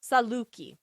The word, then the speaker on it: Saluki: I say L K I Saluki. Yep. Yep. You're right. Pronunciation is not anyone's strong suit.